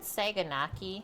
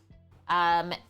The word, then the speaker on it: saganaki: Saganaki, I believe. Saganaki. Basically, spell it exactly like how it sounds.